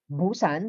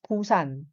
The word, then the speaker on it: Busan: Busan is Busan, letter B. Yan ang spelling niya. Yan yung consonant niya. B, Busan. Okay? Kasi may iba kasi they pronounce it as Pusan. Pusan. Pero hindi po siya magiging Pusan kasi nga nasa initial sound yung letter na yan.